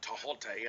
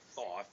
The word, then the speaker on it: Thoth: And regarding, excuse me, the Hermetic principles, um, the god Tahote, and I didn't say Thoth. Some people have told me it's actually pronounced Tahote because there is no TH sound, Thoth, in the Egyptian language.